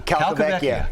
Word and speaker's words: Calcavecchia: Calcavecchia.